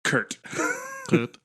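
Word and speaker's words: K'rt: out first so it's K apostrophe RT so it's Kurt um and yes and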